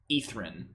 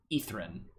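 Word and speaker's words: Ythryn: crazy uh this is the another reason Acropolis is spelled y-t-h-r-y-n etherin is how it's pronounced ethrin they do a nice job of making it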